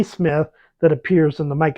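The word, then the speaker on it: Psmith: quite the same as rert silent P Smith that appears in the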